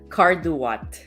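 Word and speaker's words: Marie Cardouat: that wait guys this he said that's pronounced car do what oh so it's Marie carduat okay thanks desky thanks for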